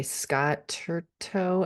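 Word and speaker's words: Turton: and a half deaths of avelyn Hardcastle I Scott turto I think is how you pronounce his last name um yeah fabulous that's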